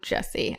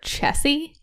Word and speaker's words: Chessy: also because I want it's not Jesse I always say her name wrong I always have like a sweet spot for Chessy chesy so I assume that The